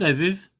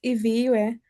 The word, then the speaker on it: Iviwe: Is it Iviv? Please correct me. My pronunciation is a bit bad. Good evening, everyone. It's Iviwe. Iviwe.